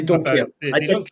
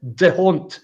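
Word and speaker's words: D'Hondt: everyone talks about the deont system. It's it's not even pronounced that for God's sake. It's pronounced don't as in don't for sake vote for the SNB, you know.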